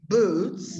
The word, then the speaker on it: boots: And these are boots, and you should close a bit in the pronunciation, the U, because it's not U, of course, but it's boots.